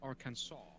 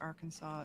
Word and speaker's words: Arkansas: Arkansas do you go do you make it a hard s no you just don't who's a hot ass